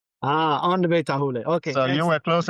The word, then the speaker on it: Aondover Tarhule: I know it's not the easiest name to pronounce. Aondover Tarhule. Aondover Tarhule.